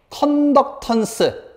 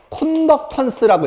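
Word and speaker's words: conductance: 그리고 요거를 뒤집은 거를 G라고 쓰고 읽을 때는 컨덕턴스 또는 콘덕턴스라고 읽어요. 콘덕턴스. 컨덕턴스 또는 콘덕턴스. 영어다 보니까.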